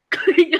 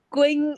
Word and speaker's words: Quỳnh: That's why because the spelling is Q, U, there's a Y, apostrophe, I think it's a stress, Y, N, H. We pronounce that in English, maybe Queen.